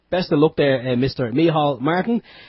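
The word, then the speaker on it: Micheál: Martin sorry me Martin have to give it give him his prop proper Irish pronunciation h miall Martin yeah he's he actually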